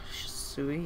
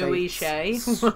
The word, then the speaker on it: Shisui: Shisui? Yeah, that's right. I always want to switch those two syllables and say... Ooey shay. I want to say swooshy or something, but anyway.